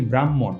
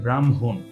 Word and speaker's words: ব্রাহ্মণ: অনেকে ভুল করেই করি আমরা কিন্তু এখানে আরেকটা জিনিস ভুল করে ফেলি সেটা হচ্ছে এটার উচ্চারণটা আমরা বলি ব্রাহ্মণ এটার উচ্চারণ কিন্তু ব্রাহ্মণ নয় এটার উচ্চারণ হচ্ছে ব্রাহ্মণ আর এখানে কিন্তু খিও নয় এটা খিও না এটা হচ্ছে হ এ ম হ যোগ ম